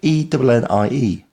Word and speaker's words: ENnie: Ah, yes, and ENnie, of course, isn't spelled A-N-Y, as it's pronounced, but E-N-N-I-E.